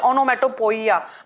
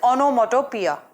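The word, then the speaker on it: onomatopoeia: बी ओनोमैटो प्यार fine दो pronounce IT ऑनमेटोपोयिया because IT इस स्प्रेड लाइक दिस ठीक है नो आईटी इस गोइंग तू बी प्रोनाउंसड स ओनोमैटो प्यार फाइन और राइट दें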